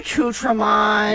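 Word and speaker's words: croissant: Aon guys it's a craon guys it's a craon the tea is very silent only dogs can hear it when you pronounce the T you sound like an uncultured swine yeah when you when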